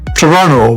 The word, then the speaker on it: Toronto: Toronto doesn't try to impress you. It just does. A city of glass, steel, and quiet confidence, where everything feels intentional. This is Canada's largest city, pronounced Toronto by locals.